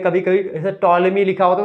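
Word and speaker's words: Ptolemy: देखते हैं कभी-कभी जैसे टॉलमी लिखा होता है तो टॉलमी लिखा होता है वो ठीक है टॉलमी की स्पेलिंग क्या होती है पीटी से शुरू होती है पी इसमें साइलेंट होता है तो क्या जरूरत है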